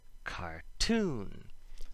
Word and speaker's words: cartoon: This would not apply to a word like cartoon because of the emphasis, just like Italian.